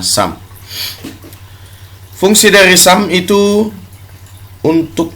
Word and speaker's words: SUM: minggu yang lalu Sharp perhatikan tulisannya ditulis dengan cksum tapi pengucapannya Sam fungsi dari Sam itu